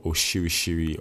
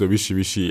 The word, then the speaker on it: orishirishi: to add all your oshirishiri or orishirishi, anyone you want to call it is fine. Actually, no, the actual pronunciation is orishirishi.